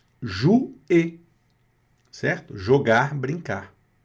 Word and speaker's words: jouer: Jouer, olha o O mais U aparecendo aí de novo. Som de U.